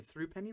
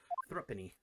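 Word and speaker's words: thruppenny: bit is that correct thrupp penny is that how you say it i've been saying through penny like a idiot thrappini yes that is correct well by something of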